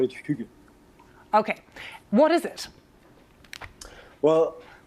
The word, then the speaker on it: hygge: I usually call it hygge.